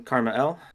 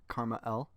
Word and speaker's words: KrmaL: Hi, I'm KrmaL. That is how it's pronounced.